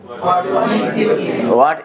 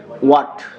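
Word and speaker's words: what: তাহলে এটা সঠিক উচ্চারণ হবে নট হোয়াট, এটা কি হবে? ওয়াট।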